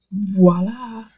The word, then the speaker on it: voila: go you can see voila and yes you do pronounce the V at the beginning of that word now you'll see looking